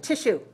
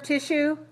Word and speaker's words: tissue: function such as nerve tissue or muscle tissue so notice we don't say sue we say shoe all right yes if